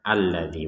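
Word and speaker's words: الَّذِي: dengan hamzatul wasl jadi hamzatul wasl itu ketika dikata alladzi maka dibacanya ini hamzahnya ini fathah alladzi walaupun di atasnya Hamzah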